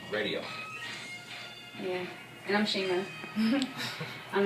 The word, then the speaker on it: RxDIO: And Radio is spelled RxDIO. Radio.